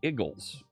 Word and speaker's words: Eagles: to misspell it and type it the way that many Philadelphiaians in our wonderful Mid-Atlantic accent pronounce it. The Igles. The Philadelphia Eagles. you gonna go watch the Igles game?